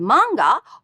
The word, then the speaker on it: manga: The word manga also has the same low-high pitch pattern. Manga. This word consists of 3 syllables with the second sound makes up an entire sound unit.